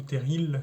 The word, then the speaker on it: terril: dans les parties précédentes sont chères terry et le elle ne se prononcent pas dans le nord il se prononce à paris donc le mineur campeurs